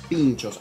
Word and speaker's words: pintxos: Está bien decir pinchos, aunque ustedes lo vieron escrito allí con X, la pronunciación es igual que como nosotros la conocemos.